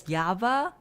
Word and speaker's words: Java: Yeah, I mean, for instance, German people say Java, the programming language, as Java, which I'm very against it because they also pronounce V as F. But they are calling it Java instead of Jaffa.